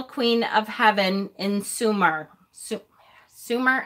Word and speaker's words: Sumer: Sumer? I never know how to pronounce that. I know it's not summer.